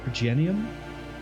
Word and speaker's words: Progenium: Oh, Progenium. Yeah, it would be a soft G.